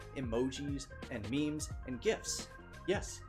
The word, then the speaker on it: GIF: contextual clues things like emojis and memes and gifs yes it's pronounced gif and yes i will fight you